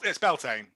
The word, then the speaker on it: Beltane: How did you pronounce it? It's Beltane.